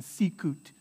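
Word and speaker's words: sicut: sound in cheli's or a hard k sound like in sikut right so if it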